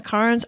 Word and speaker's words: Cairns: Welcome to Cairns. Cairns. Cairns. They throw a little R in there that you can hardly hear. It sounds like cans, Cairns.